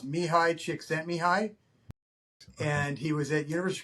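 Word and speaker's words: Mihaly Csikszentmihalyi: His name's it's it's a Czechoslovakian name, but it's pronounced mihi chick sent me mihi and he was at University of Chicago at the time.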